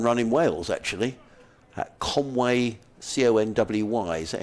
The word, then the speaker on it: Conwy: He took part in a fun run in Wales, actually, at Conway, Conwy. Is that how you pronounce it?